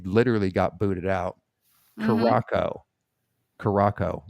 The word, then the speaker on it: Curaçao: Curaçao, right? Not Curacao. Curacao. Curacao or Curaçao? I don't It's remember. Curacao. It is Curacao. The way you know it has a soft C is that the C